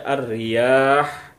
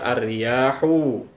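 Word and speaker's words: الرياح: Kemudian ketika kita berhenti, kita membaca huruf yang terakhir dengan mematikan atau mensukunkannya, yaitu bunyi ha. Jadi kita baca ar-riyah, tidak dibaca ar-riyahu.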